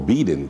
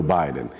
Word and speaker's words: Biden: la administración del presidente Joe Biden, o Biden, como dicen aquí, como decimos aquí en el Perú, pero bueno, yo lo pronuncio más o menos como lo dicen los norteamericanos, Joe Biden.